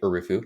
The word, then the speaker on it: Erufu: end of my name but you can pronounce it like aruu if it's easier for youuu I'm aruu well it's